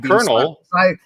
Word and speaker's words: colonel: I would definitely have Colonel, because I worked with the military, and I'm surprised I even said it that way. And colonels are not colonels, even though that's the way it's spelled.